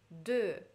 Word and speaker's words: de: Дальше предлог «de» – читается именно «э», губы вот так нужно округлить, «э».